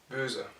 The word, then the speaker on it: böse: O devient E, donc sera prononcé comme dans le mot français creux, et sera prononcé böse.